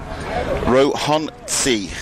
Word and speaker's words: Rohonczy: Yes, the Rohanci. Rohanci, I was close. Very close. It's the spelling is Rohonczy. It's not a Z with a Z or a TS. It's sort of halfway between the two.